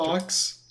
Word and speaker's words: Fuchs: spelled Fuchs. It's President Doctor. Fox. Fuck. But everyone says Fox. Yeah. When they first pronounce it, they think it's Fox.